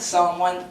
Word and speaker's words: Psalm One: At Psalm 1, the P is silent.